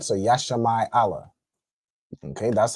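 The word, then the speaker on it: ישמעאל: And who knows how you'd say Ishmael in Hebrew. Go ahead. Yasham Allah. All right. So Yashi Allah.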